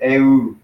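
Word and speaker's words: ευ: But they would actually pronounce it eu.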